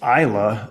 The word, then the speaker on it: Islay: and you look it up and you say Isla or you know islay is what I how I thought it used to be pronounced and eventually I learned it's Isla and